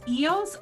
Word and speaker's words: Ios: So, spell that for me. I couldn't hear what you said. It's Ios, I-O-S.